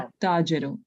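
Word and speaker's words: التاجر: The lam becomes silent. The alif is pronounced of the alif lam. At-Tajiro.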